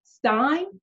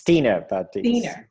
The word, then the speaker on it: Stiene: practitioner of the International House of Reiki Stein is it Steiner he actually pronounced it's Tina Tina welcome welcome and before we get